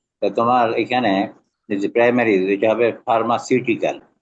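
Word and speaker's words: pharmaceutical: এখানে প্রাইমারি এটা হবে ফার্মাসিউটিকাল উচ্চারণটা ফার্মাসিউটিকাল তুমি উচ্চারণ কর ফার্মা কিউটিকাল তো ফার্মাকিউটিক্যাল হবে না ফার্মাসি বলে ঠিক আছে আচ্ছা আরেকটা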